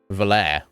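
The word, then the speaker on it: Valere: definitely French affine yeah valarian valair you would say valair uh James what's all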